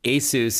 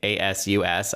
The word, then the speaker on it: ASUS: ASUS is how you properly pronounce the company's name. ASUS.